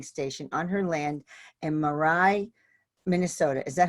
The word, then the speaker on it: Grand Marais: constructed Galactic receiving station on her land and Mirai Minnesota is that how you say it Murray Mirai Grand Marais Grand Marais that's it Grand Marais Minnesota Christine presents her